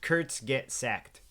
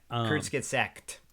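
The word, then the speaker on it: Kurzgesagt: the Kurtz cassette what did I say it's pronounced Kurtz get sacked Kurtz get sack yeah Kurtz get sacked with a tea at the end like sect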